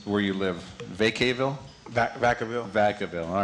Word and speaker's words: Vacaville: Now, how do you pronounce where you live? Vacaville? Vacaville.